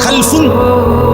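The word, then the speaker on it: خَلَف: একটি প্রজন্ম একটা জেনারেশন দুই রকম আরবি একটা হল খালফুন আরেকটা হল খালাফুন একই শব্দ শুধু উচ্চারণের মধ্যে একটু ভিন্নতা মাঝখানে একটা লাম আছে এই লামটার মধ্যে যদি সাকিন হয় তাইলে হল খালফুন আর যদি লামের মধ্যে জবর হয় তাহলে হল খালাফুন আরবি শব্দ খালফলামের মধ্যে যদি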